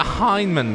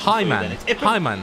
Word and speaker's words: Heinemann: I got Heinemann wrong. I kept saying I just said it wrong again. Do I just your pronunciation? Hyman.